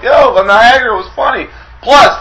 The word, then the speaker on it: Niagara: So, Niagara Falls, Niagara rhymes with Viagra.